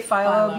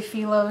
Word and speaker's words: phyllo: cake with filo Philo I always say Philo because it's a y yeah but I hear other people say filo so however you pronounce it that's totally fine um so but this